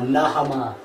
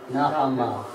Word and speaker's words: Naamah: Um Uh Naamah. Naamah.